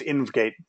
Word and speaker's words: InvGate: screen but it's pronounced invate just run it all together so let us see